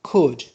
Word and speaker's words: could: Another modal verb which is could. Here L is silent.